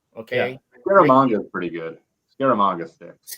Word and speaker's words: Scaramanga: Nick Nack pronounces Scaramanga the best. When I say that word, I try to emulate Hervé Villechaize. How did you say it? Scaramanga. It's a little more French, and I can't emulate